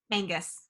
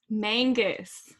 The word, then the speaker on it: Mangas: Mangus. Mangus.